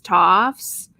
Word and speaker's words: Tofts: It's spelled TOFTS, Toffs.